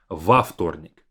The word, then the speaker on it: во вторник: And instead of saying вторник as a long three consonant cluster, we separate it with во вторник, adding a bit of space with a vowel. Во вторник.